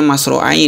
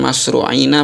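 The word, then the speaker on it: مُسْرِعَيْنِ: kemudian Bagaimana masru Aini ini bacanya Mas roai Ini ya Bukan mashru Aina bukan masrua ini telah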